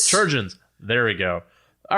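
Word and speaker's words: chirurgeons: you a real quick question how do we pronounce that word it looks like kyogen's or cure surgeons surgeons there we go all right so the departmento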